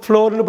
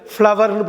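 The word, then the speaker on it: flour: எந்த காரணத்தை முன்னிட்டும் ஃப்ளோர்னு படிச்சிடக்கூடாது, ஃப்ளவர்னு படிக்கணும்.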